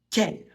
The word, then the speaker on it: quel: Pour la prononciation, ça se prononce quel Q et U, ça fait le son que. On ne prononce pas le U.